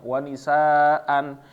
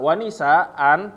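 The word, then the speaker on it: وَنِسَاءً: Jadi bacanya wa nisaa dua harokat juga. Nah, jadi jangan sampai membacanya malah antara wa nisa. Nah, kadang-kadang orang keliru begitu ya, wa nisa, karena mengira a-nya ini kalau misalnya berhenti jadi sukun, atau wa nisaan. Nah, ini keliru juga, ya.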